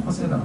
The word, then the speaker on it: Coursera: 그래서 발음하면 코세라라고 얘기합니다. 코스 플러스 RA.